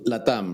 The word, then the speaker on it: LATAM: you pronounce it yeah it's latam right because it stands for yeah Latino America that's